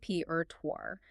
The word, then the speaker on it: repertoire: We begin with repertoire, pronounced reptoire. The challenge here is entirely that French origin again complicating the ending sound tuar.